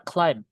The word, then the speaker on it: climb: Enggak boleh kita climb. Climb. Oke, ingat-ingat pokoknya, Teman-teman. ketemu sama ada suara ya, Guys ya. MNB ya, Guys ya. In the end of the word, B-nya enggak dibaca. This silent.